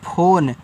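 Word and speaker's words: phone: पी एच ओ एन ई तो इसको पढ़ते हैं फोन। तो पीएच से फ ओ से ओ की मात्रा एन से न लास्ट में इस इ का उच्चारण नहीं करते क्योंकि फोन एक क्या है? आपका इंग्लिश वर्ड होता है।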